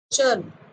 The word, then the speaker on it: चर्म: जैसे चर्म शब्द है, क्या है? चर्म। दूसरा शब्द है चरम। इनके उच्चारण में फर्क है, लेकिन हम क्या करते